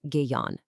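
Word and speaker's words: Gaon: the VNA gone, and that's pronounced Gayon.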